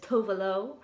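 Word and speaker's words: Tove Lo: I actually believe how she pronounces her name is Tovolo, and I know that because of her most recent video that she put out.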